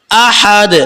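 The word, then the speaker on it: أَحَد: আলিফ কুলহু আল্লাহু আহাদ আহাদ লাস্টে কল কলা আছে মানে একটু ধাক্কা দিতে হবে কুলহু আল্লাহু আহাদ আবার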